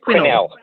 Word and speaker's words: Quinnell: with our emails backwards and forwards about the pronunciation of your name. Quinnell? Quinnell.